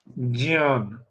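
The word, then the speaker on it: ज्ञ: Ja, mm, Ja, then force the air into your nose after you have said Ja. Mm, Jian, Jian, Jian. The air must come out from your nose. Jian, with Jian, Jian, ya Jian. That is how you pronounce Jian.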